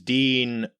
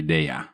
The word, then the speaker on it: Milei: The double L is a Y sound.